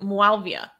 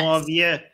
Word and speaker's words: Muawiyah: enforcers of this regime to how do you pronounce it? Muawiyah. Wow, really? I didn't know that. Yes. Muawiyah.